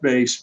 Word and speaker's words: bass: get it out more oh actually it's pronounced base but that's okay oh my